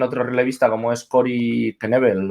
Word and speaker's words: Knebel: Pues también otro relevista como es Corey Knebel o Corey Neville, o no, como decíamos antes, no sabemos muy bien por qué es Knebel, si normalmente en inglés la K esa no se pronuncia, pero bueno, se va a los Dodgers, ¿no?